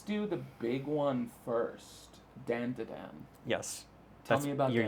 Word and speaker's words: Dandadan: Dandadan would be the Japanese pronunciation.